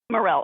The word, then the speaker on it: Morel: Jewish woman's name is is it Mara Morel Morel okay I wasn't sure how how the eles were pronounced so Morel and Franchesca can you